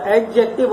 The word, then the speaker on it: adjective: अच्छा, एडजेक्टिव होता है ये, लेकिन इसको पढ़ते हैं एडजेक्टिव में, डी जो है इसको साइलेंट कर देते हैं।